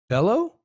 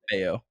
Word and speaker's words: Bello: in corre Brian yeah but you said the last name wrong Bellow beo oh it's beo because it's Double L well depends that's not always true but it's beo okay well there's that